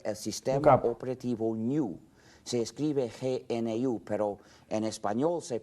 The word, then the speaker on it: GNU: modernas es decir el sistema operativo se escribe gnu pero en español se pronuncia New en inglés Good en español New es más